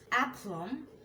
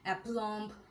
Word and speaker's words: aplomb: Aplomb, bomb, climb, comb, crumb, debt, doubt, dumb, jam, lamb, limb, plumber, succumb, thumb, thumbs up, bomb, tom. এইসব ওয়ার্ডগুলোতে বি উচ্চারিত হয় না। যদি আমরা beta সহ বলি অ্যাপ্লম্ব, বম্ব, নাম্ব, limp, তাহলে কিন্তু আমাদের উচ্চারণগুলো ভুল